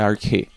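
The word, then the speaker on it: ἀρχή: grega usada aqui é arque a pronúncia dela é arque E conforme o dicionário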